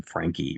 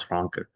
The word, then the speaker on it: Franke: Um, People used to pronounce his last name Frankie, right, the American way. But I remember I spoke to his father Hans once. He said, "This is Hans Franke," and so the German, okay, he pronounced it the German way.